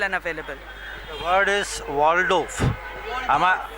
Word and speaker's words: Waldorf: The word is Waldorf. Waldorf. Okay, nothing is silent in that, na? Waldorf.